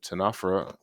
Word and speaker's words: Ctenophora: the final uh lecture of this unit so tanafera and i gave you a nice pronunciation there more for myself than for you